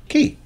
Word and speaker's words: quay: the word meaning Wharf which is pronounced key Carly from cologne ke